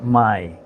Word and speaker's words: Mai: m a I and it's pronounced my which is a vienamese